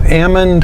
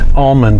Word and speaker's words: almond: because of the mechanization so Ammon almond what's the correct pronunciation the dictionary says both I grew up calling them almonds rhyming with salmon seemed like the the